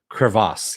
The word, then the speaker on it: crevasse: glacier cracks and they fall into a crevasse crevasse yes that's how it's pronounced and that's how we leave off the